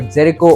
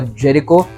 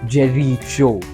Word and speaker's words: Jericho: which by the way i totally mispronounced in the last episodes it's either jericho or jericho but definitely not jerry jo we were talking about